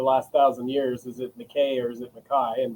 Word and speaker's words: McKay: and family is that in the Highlands, it's pronounced Mai. Uh, a lot of people get it wrong with McKay.